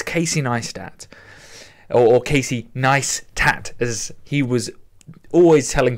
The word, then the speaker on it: Casey Neistat: It's Casey Neistat, or Casey Neistat, as he was always telling people to how to pronounce it, and so I push forward that